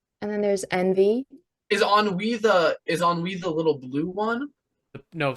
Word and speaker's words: ennui: Well, there's ennui. Is that how you say it? And we Ennui. Ennui. Yes, it's French.